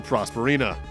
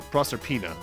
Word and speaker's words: Proserpina: it's time for the castle prosperina or no proserpina i've been mispronouncing that castle's name wrong my entire life huh i love this